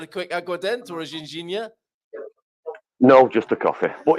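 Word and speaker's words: Ginjinha: It's called Gingenia. You're pronouncing it wrong.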